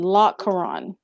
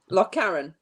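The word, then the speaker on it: Lochcarron: friend that lives in i know i'm going to say it wrong but he lives in loch koran lock karen thank you and he said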